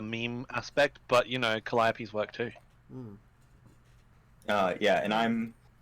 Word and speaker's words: Calliope: Calliope. Alright. Believe it or not, Posadas Pac-Man pronounced the name the first time right, and